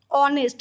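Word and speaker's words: honest: एच ओ एन ई एस टी, ऑनेस्ट, बट एच है silent, इसीलिए एन बैठता है.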